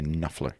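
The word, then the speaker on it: Knopfler: he was very uh Mark knofler uh silent P silent k just so you know you say nler Yes um uh he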